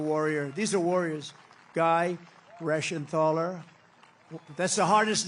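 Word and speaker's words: Reschenthaler: great job real Warrior these are warriors guy rashan ther that's the hardest name in the Senate to pronounce but I've learned how to pronounce it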